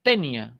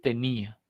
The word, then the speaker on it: tenía: de tildarse pero si no tildo sonaría tenia si habría hecho una grave y habría un diptongo aquí sería tenia y no es tenia la palabra es tenía de acuerdo si no